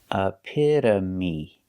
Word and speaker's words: epitome: the long e sound epitome epitome when we say epitome we say the the epitome we use the long